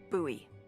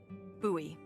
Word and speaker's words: Bowie knife: no warning, he pulls out this huge rusty Bowie knife. It's actually pronounced Bowie. What? No, it's like the last name, like David Bowie. Different last name. Bowie.